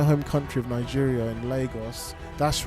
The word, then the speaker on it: Lagos: We got to see my home country of Nigeria in Lagos. That's right, it's pronounced Lagos, not Lagos, but Lagos.